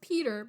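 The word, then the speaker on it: Petyr: person says it PTI it's supposed to be pronounced Peter but he says pyre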